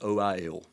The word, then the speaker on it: oil: Meanwhile, my son, interestingly, so the way I pronounce the word O-I-L. Ol. Ol. Now, when my children were learning phonics to learn how to read, they have that diphthong there. You pronounce it with 2 syllables. Oil. Oil, right? So foil, that kind of thing.